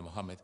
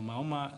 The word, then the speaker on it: Mohammed: de moma Mejor dicho de Mohamed de Mohammed no maoma no se dice el maoma es es contradictorio contrario